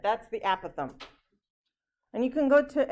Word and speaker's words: apothem: is this word here okay this is the apothem most people mispronounce this and they call it apothem this is not the applause the apothem okay and the epithelium is the segment drawn